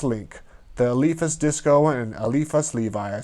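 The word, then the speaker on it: Eliphas Lévi: was another elephant's link the alifa's disco and alifa levi i said slowly it's spelled with an eye instead of an e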